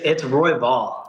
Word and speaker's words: Royval: How do you pronounce your last name? It's Royval.